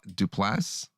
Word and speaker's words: Duplass: his 2018 interaction with actor mark du touple duplass to plus it's spelled d-u-p-l-a-s-s oh there you go that's the